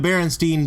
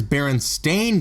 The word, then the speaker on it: Berenstain: shocked to learn that he' been spelling and pronouncing their name wrong for decades the actual correct title of the series is Baron stain bears with an a when many fans myself